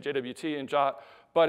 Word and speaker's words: JWT: people in our industry the suggested pronunciation this is right out of the RFC itself of JWT is the same as this English word jot I still have trouble